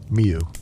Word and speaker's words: mjw: The animal is MJW, Miu. The sound it makes transcribed into the consonant, only script that Egyptian writing uses, and pronounced back out again through the standard reconstructions.